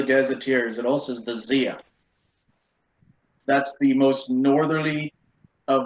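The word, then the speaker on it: Zeia: How do you spell that? Z-E-I-A. Zia.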